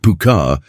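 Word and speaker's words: púca: The puka, whose name is pronounced puka and may derive from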